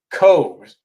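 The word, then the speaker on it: Cobh: Cove. I guess that's how you pronounce it.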